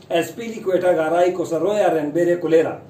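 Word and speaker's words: Azpilicuetagaraycosaroyarenberecolarrea: इसकी प्रोनाउंसिएशन है एसपीली क्वेटा गाराई कोसरोया रेनबेरे कुलेरा। तो ये है इसकी प्रोनाउंसिएशन और ये क्या है, इसका मतलब क्या है।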